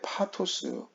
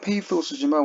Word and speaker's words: pathos: 설교의 파토스 부분에 대해서 오늘 이야기하겠죠. 먼저 파토스에 대한 오해가 있습니다. 파토스 그러면 영어로는 페이토스지만 우리는 파토스, 원어의 발음으로 파토스라고 합니다. 사전적 정의에 의하면 파토스는 일시적인 격정이나 열정 또는 예술에 있어서의 주관적 감정적 요소다.